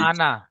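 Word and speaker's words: أنا: তো ঠিক এমন আনা। এই আনা উচ্চারণটি হলে টান হবে না।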